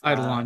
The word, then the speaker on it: Eidolon: I might be mispronouncing that. It's Eidolon, yeah.